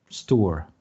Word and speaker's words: Stour: Stour, like Sturr.